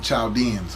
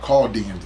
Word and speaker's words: Chaldeans: Okay, which is what they call them Chaldeans. Okay, or Chaldeans. H is silent in Arabic.